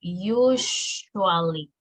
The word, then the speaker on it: usually: La pronunciación de esto es you, empieza como con you, usually, así, usually. No es usually, okay?